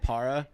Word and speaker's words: Parra: Parra. Nice. Okay, cool. I don't want to say it wrong. I don't want to say it too Mexican. I don't know if you just said Parra.